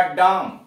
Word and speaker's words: drachm: उच्चारण क्या होगा, यह होगा डाम, DRACHM का डाम, यानी आर गायब और CH भी गायब, सीधे डाम।